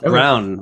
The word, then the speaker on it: Braun: about uh Christian Brown it's pronounced Brown apparently not Braun I I learned that